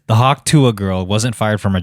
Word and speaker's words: Hawk Tuah: That's Is it Hawk Tuah or Hawk Tui? Hawk Tuah. Hawk Tua. That's how she said it.